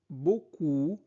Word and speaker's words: beaucoup: et j'aime beaucoup beaucoup e a u se prononce o beaucoup les jeux vidéos dans la cour et camarades discutent de leurs activités après l'école.